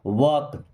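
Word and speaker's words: walk: मीस होता है मत वक जैसे टक होता है वैसे होता है वक ऐसे वक एल साइलेंट ओके डोंट वक मीस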